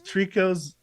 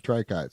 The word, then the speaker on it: tricot: was trying to say the main point is trico's latest song has vocals so it's called Trico yeah yeah that's how I pronounce it okay why nobody has ever told